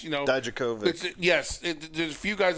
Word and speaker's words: Dijakovic: So it's a Keith Lee, it's a Don Javak, or however you say his name. It's Dijakovic.